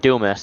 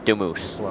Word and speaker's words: Dumas: It's pronounced Dumas. I got an EOL. But you'll hear Dumas or Dumas. I knew I was there, but he come down anyway. Or if you're David Stoops, it's Dumus.